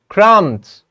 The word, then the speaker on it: crumbs: Crumbs, B is silent.